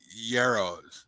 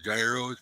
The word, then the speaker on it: gyros: My favorite thing was them yarrows. You know, the gyros, people call them. They're yarrows. Gyros. Man taught me how to say it.